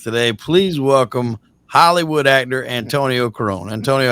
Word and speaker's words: Antoni: Antoni Corone, that's how it's pronounced. Anthony. Okay, see, I've heard people announce your name as Antonio.